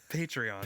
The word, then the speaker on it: Patreon: I do that I don't know how to pronounce it again patreon patreon I I keep Patron not remember at all patreon patreon you can